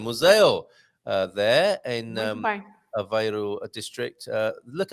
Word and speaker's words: museu: As we learned how to say it with a Z sound, Museo, there in Aveiro district.